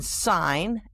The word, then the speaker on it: sign: The silent G, as in sign, S-I-G-N, design, D-E-S-I-G-N, and foreign, F-O-R-E-I-G-N.